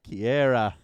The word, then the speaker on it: Keira: with odd names know, it's key as in key in a door, air as in the air you breathe, as in the sound you make when you understand how to say my name.